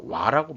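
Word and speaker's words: 和: 일본의 상징은 화입니다. 와라고 발음하죠. 와.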